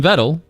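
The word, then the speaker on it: Vedal: They do again mention vettle rhymes with pedal and uh at the time of this writing they're at 162 or 165 as of the Twitch tracker goes.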